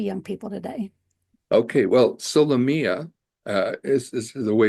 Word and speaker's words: Solomea: most applicable to young people today okay well solia uh is is the way you pronounce it um by the way I just